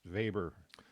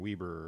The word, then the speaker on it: Weber: that's why it's pronounced vber rather than Weber or Weber or something like that he's a German so you pronounce it he was born in